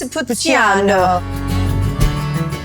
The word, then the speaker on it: Montepulciano: And I'm really hoping I'm pronouncing that correct. Montepulciano.